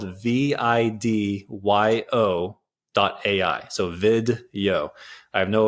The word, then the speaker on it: Vidyo: It's called video.ai. It's an AI repurposing tool, and it's spelled VIDYO.ai.